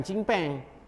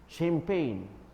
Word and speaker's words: champagne: Bukan cimpeng. Champagne. Ya, pronunciation pun kena betul.